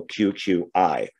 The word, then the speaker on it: Cucuy: tell their kids and i think the y is is pronounced with an i so q q i uh the boogeyman probably